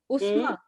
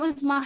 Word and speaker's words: Uzma: Ma'am मेरा नाम उज़मा है। उस्मा, उज़मा, स्पेलिंग बताओ।